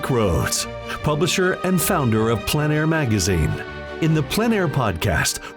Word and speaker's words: plein air: The French pronounce it plein air. Others say plain air. No matter how you say it, there is a huge